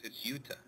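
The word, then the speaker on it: Jutta: And her name is, the J is pronounced like a Y, so it's Yuta.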